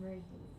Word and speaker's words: Marie: My name is Marie. Mary? Yeah. Not Mary, but Mary. Marie. No.